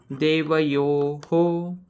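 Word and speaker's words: देवयोः: मग या विसर्गाचा उच्चारण आता इथं परत य व्यंजन अधिक यो म्हणजे ओ ओ ऍड केलाय आपण मग ओ विसर्गाचा उच्चारण आपण कसा करणार हो मग याचं एकूण उच्चारण देवयो हो असं परत मी एक शब्द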